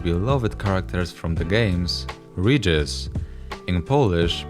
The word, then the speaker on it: Regis: Also of French origin is the name of one of the most beloved characters from the games, Regis, in Polish pronounced Regis.